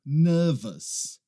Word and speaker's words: nervous: A gente não pronuncia aquele U. E aí vai outra dica para você. Toda vez que você vê uma palavra terminando com O-U-S, você vai falar us.